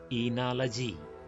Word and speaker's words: oenology: The subject is oenology, which is pronounced as enology.